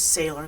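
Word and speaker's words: Saylor: Her name is Sailor, not Taylor. It's spelled Taylor, but with an S.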